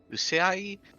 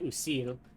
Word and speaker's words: Usil: Radiance, Frost, Usai, and Craven. Well, I believe you mispronounced Usil, but no, I don't recognize Usil. any of them. Oh, that's an L.